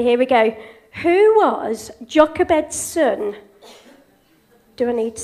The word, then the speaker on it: Jochebed: I were discussing how on earth we can pronounce the name. So, we've got a young man here. Let's ask you. Jochebana. That's brilliant, that's close. Jochebed, brilliant!